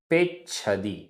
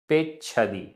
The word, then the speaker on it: पेच्छदि: ण ण गुणे गुणे पेच्छदि पेच्छदि आधा च छ पेच्छदि।